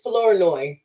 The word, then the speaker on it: Flournoy: because I want to make sure that I pronounce it correctly it's fleurloy Florida okay but we got on